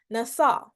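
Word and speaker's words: נָשָׂא: strong concordance it is H 5,375 and it's pronounced NASA which means to bear or carry the prefix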